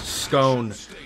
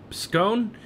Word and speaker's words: Skåne: in the tier six scone I do believe I got that pronunciation right right scone it's not the ske it's the scone I know I might